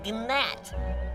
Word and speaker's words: gnat: me you are a gnat there's a g silent it's not are you